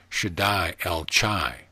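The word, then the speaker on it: Shaddai El Chai: tissue in that region should die el chai pronounced should i el chai the ch is guttural as in the words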